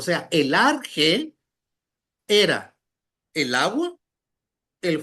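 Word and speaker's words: ἀρχή: Arge con J, no con g. Arche.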